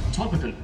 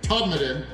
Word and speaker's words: Todmorden: We are here for the first time in Todmorden. Yes, which is spelled Todmorden, but they do not like that pronunciation from Americans here. So we are in Todmorden of England, which is a village in between Leeds and Manchester.